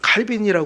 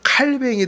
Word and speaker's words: 칼뱅: 계명으로 요약할 수 있습니다 그래서 칼빈은 제가 칼빈이 저는 지금도 이게 익숙한데 이게 칼뱅이 더 정확한 이제 발음이 프랑스 사람이니까 그래서 이제여기서 바꾸자 그래서 바꾸기 했는데 칼뱅이 더 정확한 말이긴 해요 그래서 칼뱅은 우리가 마음과